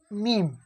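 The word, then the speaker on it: ميم: মিম, এই মিম, মিমের মাখরাজ হচ্ছে দুই ঠোঁটের ভিজে অংশ হইতে উচ্চারণ হয়, এই দুই ঠোঁটের ভিজে অংশ, এই এই মিম মিম মিম, দুই ঠোঁটের ভিজে অংশ হইতে উচ্চারণ হয় মিম।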